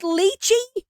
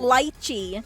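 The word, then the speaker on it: lychee: Wait, it's not pronounced liy. What? I've been saying it wrong my whole life. Oh my gosh. What else is new? What else? Let's get it. Let's go. Litechy.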